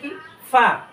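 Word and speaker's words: قاف: ইনশাল্লাহ ভিডিওটি ধারণ করবেন এরপরে হচ্ছে এটা কফ কফ উচ্চারণ হবে কোত্থেকে জিহ্বার ঘোড়া এই যে জিহ্বাটা আছে না জিহ্বার ঘোড়া তার বরাবর পরে তালুর সাথে আমরা ইনশাল্লাহ লাগিয়ে দিব মোটা আওয়াজে কফ হরফটাকে আমরা উচ্চারণ করবো মোটা আওয়াজ আওয়াজটা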